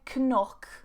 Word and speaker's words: knock: Silent K, now you'll notice that this combination of K and N, when it's together, we don't normally pronounce the K, okay?